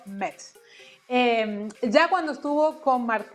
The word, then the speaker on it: Mets: mets se aclaró miguel se pronuncia y se dice así viene the metropolitan por eso mex ya cuando estuvo con